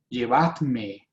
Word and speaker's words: llevadme: más acercado al original, no existe la D de llevadme, dice llevame, y por eso llevame tiene acento en la A para que no pronunciemos llévame, porque no está hablando en singular, está hablando en plural.